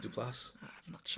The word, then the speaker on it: Duplass: like the like uh mark du place and his brother is it is pronounced duplass but those guys that